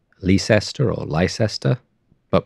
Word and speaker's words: Leicester: Lester which is spelt Lester or Lester but pronounced Lester there are lots of British place names that